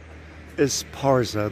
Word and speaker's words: Esparza: coming into town it's a big place nowadays esporsa was named after a spanish city in the basque country and this is another old house this is uh the second street is parza that's how it's pronounced you can see it's also very typical